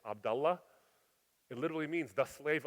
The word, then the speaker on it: Abdullah: When you see that name Abdullah, you guys say it Abdullah. It's not how you say it. It's Abdullah.